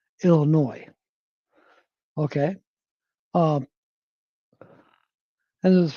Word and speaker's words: Illinois: So it's, you know, a lot of people say Illinois because that's how it looks, how it's spelled, but the S is silent. So it's supposed to be pronounced Illinois.